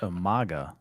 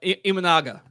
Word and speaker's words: Imanaga: So, I just um I just seen that Omaga, correct me if I'm wrong here. How do you say that? Shota Amaga. Shota uh Imanaga.